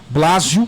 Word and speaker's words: Blásio: da entrevista bate-papo muito interessante com psicólogo blazio Tá certo a pronúncia isso Lácio No final quero que você